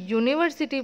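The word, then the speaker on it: university: तो जैसे हम यूनिवर्सिटी प्रोनाउंस करते हैं उसमें य बोलते हैं, तो य का साउंड, य का लेटर क्या आता है, वाई।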